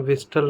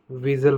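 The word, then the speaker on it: whistle: और इसी प्रकार हम विस्टल नहीं विज़ल पढ़ेंगे, क्योंकि इस वर्ड के बीच में एस टी एक साथ आया हुआ है। तो इस प्रकार हम इसे विस्टल ना पढ़कर विज़ल पढ़ेंगे, क्योंकि यहाँ पर एस टी साथ में है तो टी क्या होगा, साइलेंट होगा।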